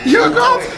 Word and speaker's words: yogurt: Yogurt. Here. How do you pronounce yogurt? Yogurt. Yogurt. Oh, yogurt. Like a G. This is more like a K.